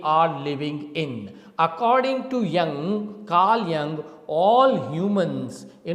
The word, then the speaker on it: Jung: given by our psychologist whose name is Carl Young the spelling is j u n g but the SP the pronunciation is Carl Jung okay now he belonged